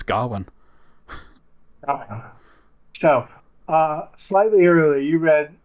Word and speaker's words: Gawain: It's Gawain.